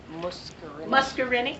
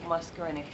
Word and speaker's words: muscarinic: Muscarinic. Muscarinic.